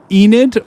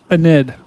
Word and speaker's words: Enid: That is north near uh Enid or as people outside of Oklahoma like to say, Anid. So, thankfully, Edgar, we got a new tornado warning. But you call it Enid, Connor.